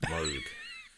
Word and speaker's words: Moog: It's pronounced Moog.